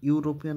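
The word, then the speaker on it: European: vowel থাকলে কিন্তু না যখন ইউরোপিয়ানটা উচ্চারণ করবে তখন ইউরোপিয়ান আমাদেরকে এইভাবে মানে আইপিএ অনুযায়ী এইভাবে ফনেটিক্সে লিখতে হয় ইউ ওয়াই ইউরোপিয়ান ঠিক আছে সেই ক্ষেত্রে আমাদের উচ্চারণের উচ্চারণটা ইউ আছে ওয়াই আসে ঠিক আছে প্রথমে ওই জন্য আমরা কি করবো এখানে এ করবো আর ওয়াই টা তো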